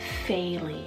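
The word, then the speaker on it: Faeley: least a new one here is the name fayley it's spelled f-a-e-l-e-y it just sounds like a dream to me and you can incorporate that nickname of Faye stunning very vintage-esque and faily means fairy Meadow so you just can't go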